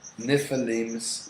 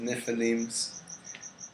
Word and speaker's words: Nephilim: But pretty much one of the stories from the Emerald Tablets is that there was Nephilims, that's how they're pronounced, Nephilims, and they existed at a certain point in history according to Thoth.